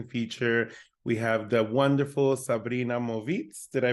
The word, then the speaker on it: Sabrina Movitz: We have the wonderful Sabrina Movitz. Did I pronounce that correctly?